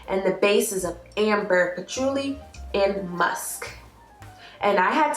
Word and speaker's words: patchouli: pronounce this plant correctly okay so it is pronounced patchouli and it's a herb with smellings it smells